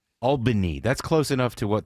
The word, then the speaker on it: Albany: Hey guys, native Albinian in here. It is pronounced Albini. A L L B I N Y. Albany.